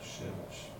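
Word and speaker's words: שמש: Se pronuncia Shemesh.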